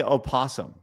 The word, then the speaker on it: opossum: Is it possum or opossum? I say possum. I do too, but It's just spelled that way. why do people say opossum? I guess they're phonetically reading it. I don't really understand how this works. I mean, it's always just been possum to me, but I hear some people say opossum.